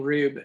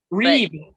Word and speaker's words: Rube: Gavin Rube was our dramaturg. Did I say his name? His last name? I think it's Reeb. Reeb. Thank you. Yes, it's spelled like Rube.